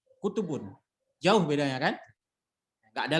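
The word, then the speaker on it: كُتُب: Bacanya pun bukan ki, tapi kutubun. Bukan kitubun. Berbeda. Harakatnya berbeda.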